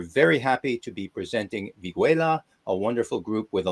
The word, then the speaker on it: Vigüela: And the band Viguela.